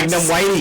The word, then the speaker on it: Lignum vitae: I said it intentionally because that's how we pronounce it. Yes. Lignum whitey. Yeah, which one you want me to start with? Lignum vitae.